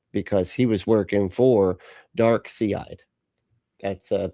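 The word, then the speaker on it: Darkseid: Um because he was working for Dark Seide. That's uh that's proper pronunciation by the way is Dark Sea.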